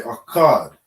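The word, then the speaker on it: אחד: And then you have akkad. Akkad. All right? You're dropping that da syllable or that a syllable at the end of the da. Okay? So you're connecting these two, connecting the ka and the da, and we say akkad.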